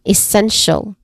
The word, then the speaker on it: essential: Again, essential. The stressed syllable here is the second syllable, which is sen.